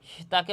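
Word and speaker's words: ت: ঠিক তেমনিভাবে জিহ্বার আগা সামনের উপরের দুই দাঁতের গোড়া এবং সামান্য মাড়ির সঙ্গে লাগাইয়া ত হরফটিও উচ্চারিত হবে।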